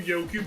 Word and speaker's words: Yoku: i love the random yoku block that's just what the crap why is there random yoku block i always mispronounce those as yokai blocks and and i don't